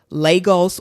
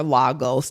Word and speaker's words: Lagos: Lagos or Lagos, depending on how people pronounce it.